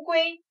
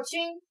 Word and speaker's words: 龟: 那这个字乌龟，还有它的另一个读音，读作龟，龟裂。